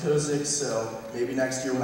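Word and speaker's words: Kozicz: It's K-O-Z-I-C-Z, and it's pronounced Kosich, so maybe next year when I decide to come back, we can start with that.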